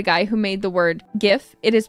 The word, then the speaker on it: GIF: who made the word gif it is pronounced GIF yes however factually that is wrong a g makes a a g sound and a j makes a j sound as to where if